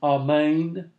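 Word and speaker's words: ἀμήν: And then amen, that's amen. That's pronounced roughly the same in Hebrew, Greek, and English.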